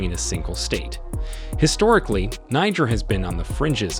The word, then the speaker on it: Niger: Niger as was first erroneously believed the standard pronunciation in English is Niger while in some anglophone media n is also